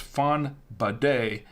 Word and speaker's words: Fonbadet: Fonbadet, not a bonnet like a bonnet or something, but it's Fonbadet. See, I want to call it Fonbadet. And then I learned how to pronounce it properly, and so I said Fonbadet.